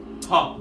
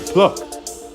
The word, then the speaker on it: puck: Puck, bitch. I said it right. Pluck. Puck. Pluck. Puck. Pluck. There's no L.